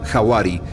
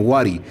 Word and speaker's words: hawari: es la vicuña comienza con la letra h y se pronuncia hawari cuyo significado es fantasma pero es más conocido y pronunciado como wari en nuestro vocabulario castellanizado